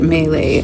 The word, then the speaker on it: Maileg: I guess you're supposed to pronounce it Maileg, I realized. I heard that online.